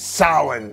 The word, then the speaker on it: Samhain: samhain or it looks like samhain but it's pronounced samhain it's the old school evil thing that halloween's